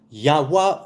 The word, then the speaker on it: Yahweh: The Vav was and is a Waw, not Vei. Right, not V, but W. Yahweh would be most accurate, but Yahweh, fine.